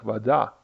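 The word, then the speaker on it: вода: previous syllables changes, and in nominative, in Russian it sounds something like vada, and in accusative it's something like vodu. So vada, vodu.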